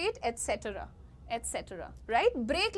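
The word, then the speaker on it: et cetera: you will call it genre ज में श मिक्स करना है आपको कहना है जॉन्रा ठीक है नेक्स्ट ईटी सी बहुत सारे लोग इसको ईटी सी बोल देते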